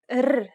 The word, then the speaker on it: Ρ: Both of these Greek letters look very similar to the English letters P and X. However, the way you read them in Greek is totally different.